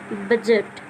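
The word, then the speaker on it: budget: जैसे बजट, अब बजट क्यों नहीं पढ़, बजट क्यों पढ़ा है हमने, ये डी साइलेंट कैसे है, तो ये साइलेंट इसलिए है क्योंकि डी के बाद ना जी आ गया, अगर डी के बाद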